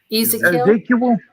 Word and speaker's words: Ezekiel: How do you pronounce it? Ezekiel. Ezekiel.